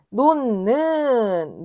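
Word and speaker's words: 놓는: 자, 히이 니은을 만나면 똑같이 그냥 니은 소리가 나는데 얘는 논는 논는 이렇게 발음이 됩니다.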